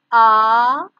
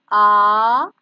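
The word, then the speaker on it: आम: Aam. Aam. Repeat after me. Aam.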